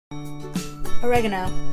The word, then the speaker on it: oregano: Oregano. Oregano, we say. So same word, but it's pronounced differently.